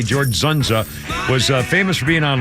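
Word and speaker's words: Dzundza: you see him, George Zunza. I think it's how you pronounce it, D-Z-U-N-D-Z-A. George Zunza was famous for being on Law & Order for years.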